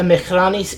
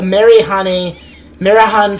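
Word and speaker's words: Marehan: Any sight of, so there's a fleet of, a Mehrani fleet, a Marahan fleet, that's how you pronounce it, Marahan Somali fleet, a Marahan fleet, in the coast of Pepper here.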